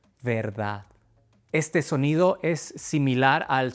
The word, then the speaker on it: verdad: Nada, pedir, verdad.